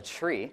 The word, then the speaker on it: trie: there's a version of a dag called a tree this is pronounced tree right retrieve um which we can use to